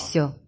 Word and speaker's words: все: Все. How the fuck do I know to pronounce this first word? Everything. Все. It looks like a V. I mean, the B is a V, though, no?